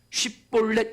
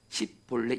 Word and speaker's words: 쉽볼렛: 사사기 12장 6절에 보면 에브라임 지파를 죽이려고 하는데 어떻게 하냐면 에브라임 지파 사람들에게 쉽볼렛 이렇게 발음하라고 해요. 쉽볼렛. 그러면 여러분 에브라임 사람들은요 그 당시에 사투리상으로 쉽볼렛을 10을 발음 못합니다. 쉽볼렛을 10볼래 이렇게 발음해요.